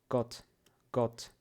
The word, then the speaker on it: Gott: Gott, короткий вариант. Не о, а. Gott.